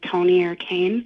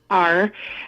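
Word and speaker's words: Tonier Cain: Somebody that I have listened to multiple times, her name is Toni or Kane, Tonier, and then Kane is spelled Cain.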